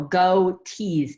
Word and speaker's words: Gotees: goatee like g-o-t-e-e-s um but this is like coffee and tea but plural go tease tea exactly like goatees it's kind of a